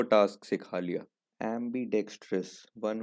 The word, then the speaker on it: ambidextrous: सो इट is pronounced एम्बीडेक्स्ट्रस।